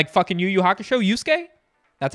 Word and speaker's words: Yosuke: yusuke like like yuuyu hakusho yusuke that's how it's pronounced hey how about this one over here